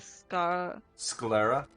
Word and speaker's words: sclera: Not the pupil, the Sclera?